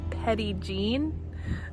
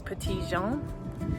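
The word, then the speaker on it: Petit Jean: I found out that uh in these parts of the world they pronounce it petty jean. Um but it is French and it's petian and it is based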